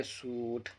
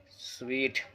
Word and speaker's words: suite: समझ में आ रहा है, इसे पढ़ेंगे सूट या सूइट, जिसे कहते हैं हिंदी में कमरों का सेट। ये भी डिफ़िकल्ट वर्ड है। इसे भी प्रोनाउंस करने में अक्सर लोगों से गलती हो जाती है, जिसका सुधारना बेहद ज़रूरी है। इसको पढ़ा जाता है स्वीट।